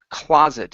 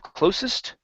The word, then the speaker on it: closet: sounded much better uh this word here is closet instead of closest closet the closet space closet closet space okay now um closet space so we're going to use a a stop T here so we're going to go it space So we don't need to finish the T okay so there's no